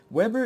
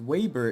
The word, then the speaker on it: Weber: to get it right Weber is their Americanized style of pronunciation but Waber is a more European one but not like it